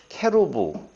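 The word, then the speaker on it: כרוב: 코드 3740 이건 인데요 케로 보브 라고 발음하고 캐 로 비밀 하고도 발음을 합니다 근데 이 그룹은 요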